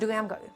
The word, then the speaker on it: Daramgar: be a nice sweet delicious bite uh it's pronounced duramar yeah this is some garlic and ginger not